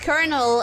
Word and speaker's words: colonel: no no I'm that's why that's why it's pronounced kernel and it's written coronal and nobody says anything